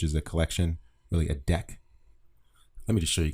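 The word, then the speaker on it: deque: and you can see it is pronounced deck it's short for double ended queue and it's memory efficient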